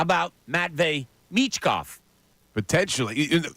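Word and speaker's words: Michkov: say it right I I don't want to know mitkov no it's mechkov you say it well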